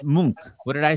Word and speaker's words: Munch: two passes yeah oh hold on it pronounced munk what did i say